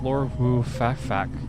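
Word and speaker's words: Lord Woo Fak Fak: So, yeah, that's Lord Wu Fak Fak. I did not curse, by the way. That's how you pronounce his name.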